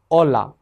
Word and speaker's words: hola: h这个辅音字母和元音放在一起是不发音的虽然它不发音，在书写的过程中是不能省略的它的读音是 ha, he, hi, ho, hu, hija, hola, humano 我们说这个字母在书写的时候不省略是因为比如说ola 没有h，它的意思是“海浪” 而加上h，hola是“你好”的意思咱们在这里做一个小小的总结在这一讲当中